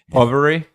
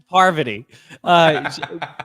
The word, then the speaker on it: Parvati: God, the one whose name you keep mispronouncing. Poverty. Parvati.